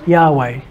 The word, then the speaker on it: Yahweh: Yod-Heh-Vah-Heh. In Hebrew, but that gets English smoothed out to Yahweh. It's just the sound of the word of the letters Yod Hey Vah Hey. Okay, Yahweh or Jehovah, if you're a King James.